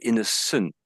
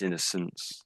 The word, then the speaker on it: innocence: And maybe, I think you said innocent. I think you said innocent, but it's innocence.